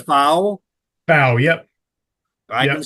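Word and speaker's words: Pfau: PAU course is one of the toughest in the country.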